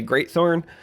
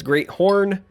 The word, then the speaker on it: Great Horn: in the game because people say great thorn but it's great horn champion I mean look